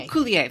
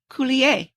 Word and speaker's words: Coulier: It's It's like French. It's a French word. I can't say it, but yes. You would know. Coulier.